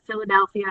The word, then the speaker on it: Philadelphia: We watched the Philadelphia Phillies practice baseball through a knot hole in the fence. So notice that Philadelphia has 2 PHs that say the sound of Phillies, and then we have